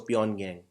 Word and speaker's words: Pyongyang: Please note, won is also the currency of North Korea, but North Korea's capital is Pyongyang or Pyongyang, but just G is silent, so Pyongyang.